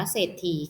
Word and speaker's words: เศรษฐี: อ่าน ว่า ศรัทธา นะ คะ เศรษฐี อ่าน ว่า เศรษฐี ค่ะ กลับ ไป นะ คะ สอเสือ ควบ กล้ำ